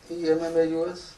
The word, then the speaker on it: Emmaus: Luke says 2 disciples in Emmaus, E-M-M-A-U-S, how do you say it?